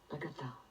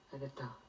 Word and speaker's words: Agatha: vous le faites encore, avec cette insistance sur la dernière syllabe. Vous disiez Agatha. Agatha.